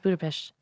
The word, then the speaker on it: Budapest: It's pronounced Budapest.